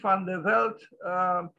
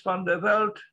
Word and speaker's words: van der Velde: Henri van der Velde, well, they say that this is the Dutch pronunciation, but he's actually considered